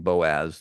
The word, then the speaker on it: Boaz: then her son Boaz I'm pronouncing Boaz the way it's written in the Old Testament Boaz in this language